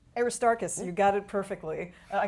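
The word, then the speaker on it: Aristarchus: So this is the 10th century CE Greek copy of and I may butcher the name Aristoark Aristarus. Aristarus you got it perfectly.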